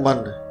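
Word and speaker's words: मनि: इसको मनी बोलते हैं, तो इसको मनी नहीं बोलना है, क्योंकि जब भी गुरबाणी के किसी भी शब्द के अंत में जब छोटी की मात्रा होती है तो उसे ज्यादातर बोला नहीं जाता, उसका उच्चारण नहीं किया जाता। तो यहाँ पर जो शब्द है मन, इसे मन बोलना है, इसमें छोटी की मात्रा है इसलिए इसे मनी नहीं बोलना, केवल मन बोलना है।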